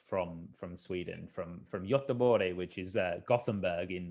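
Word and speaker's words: Göteborg: my wife is from from sweden from from yottabore which is uh gothenburg in uh you know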